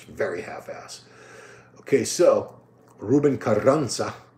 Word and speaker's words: Carranza: Okay, so, Ruben Carranza, it's 2 R's, so you roll your R's.